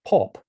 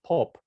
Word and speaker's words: Pop: But the scribe who provided this for Land indicates that they don't pronounce any of that. They call the month Pop, right? So they look at this and they simply say Pop in the same way